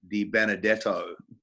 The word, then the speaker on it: DeBenedetto: me and the bishop Luke DiBenedetto did I get your name right first guy you did say it correctly it's look at all